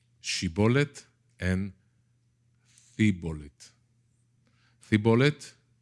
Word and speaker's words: shibboleth: the right way so bible scholars say it's not shibboleth in c bullet it's she bullet and the bullet the